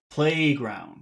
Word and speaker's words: playground: most of the time if you have two words together like that it would be the first word that would would be emphasized playground couldn't agree more yes